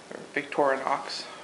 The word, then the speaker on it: Victorinox: make these knobs there's winger and Victor Knox victorinox pronounce it correctly I personally am a victorinox soon